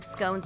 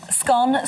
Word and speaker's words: scone: 2016 survey found that 51% of Britains pronounce it to rhyme with gone whereas 42% pronounce it to rhyme with bone the former is a